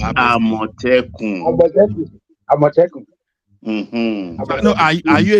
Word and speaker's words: Amotekun: Omoteku. Huh? Who is saying Omoteku? Amotekun. Isaac Ojo is pronounced Amotekun.